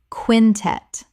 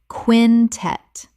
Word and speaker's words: quintet: Quintet. Correct pronunciation. Quintet. 2 syllables with the stress on the second.